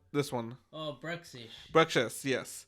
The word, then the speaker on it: Bruxish: Bruxish, yes. Bruxish or Brussish? I know some people. I know the X can be pronounced X or Z.